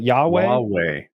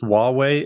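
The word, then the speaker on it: Huawei: that Chinese company like ywei it's pronounced wuwei it's it's spelled with an H so it's easy to think it's they were Cisco competitor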